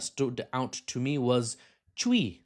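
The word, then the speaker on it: Twi: One that stood out to me was chi spelled t wi but you say it chi and in I say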